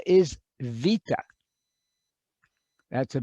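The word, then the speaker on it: βήτα: ah second letter is vita that's a b obviously our english b but it's wait a minute let's go back to b b it's pronounced like a v vita okay third letter coming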